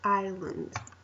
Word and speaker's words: island: this so I learned we don't pronounce the S the S is silent so Island okay and now this